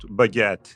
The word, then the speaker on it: baguette: How about baguette? That's a good one. It's pronounced almost like it looks. Baguette, with a little emphasis on the second syllable.